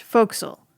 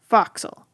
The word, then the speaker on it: forecastle: It looks like the word forecastle, but it's pronounced forecastle. Or if you're from some parts of New England, like my former advisor, foxle.